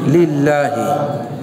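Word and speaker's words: لِلّٰهِ: আল্লাহ তখন আকার হবে, কেমন, তো এটার উচ্চারণ হবে কি, লিল্লাহি, এই যে লিল্লাহ।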